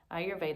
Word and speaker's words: Ayurveda: pronunciation of ayurveda so the way that i was taught was to think i your veda ayurveda as i mentioned before